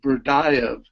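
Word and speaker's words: Berdyaev: as an undergraduate reading, I think his name is pronounced Berdayev, who was a 19th century philosopher who was very engaged with the idea of love.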